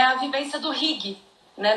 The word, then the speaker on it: hygge: E uma das coisas que justifica muito essa felicidade do povo dinamarquês é a vivência do hygge, né? Na pronúncia deles, o hug, mas para nós, hygge, que é uma filosofia